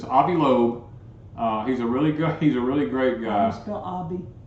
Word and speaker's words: Avi Loeb: It's Avi Loeb.